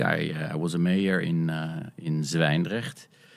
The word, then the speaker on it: Zwijndrecht: Indeed, I was a mayor in Zwijndrecht, which for internationals is indeed tough to pronounce. The zw and the ch is just tough.